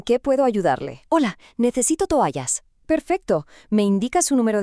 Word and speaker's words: toallas: First, the word for towels, toallas. Notice how the stress is on that A sound, toallas.